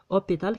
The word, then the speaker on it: hôpital: hôpital كنقراو هاد او. هاد او هي اللي تقرات. هاد اش ما تقراتش يعني مي.